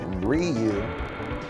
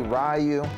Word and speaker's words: Ryu: I'm gonna get Ryu. Some people say Ryu. Americans say Ryu.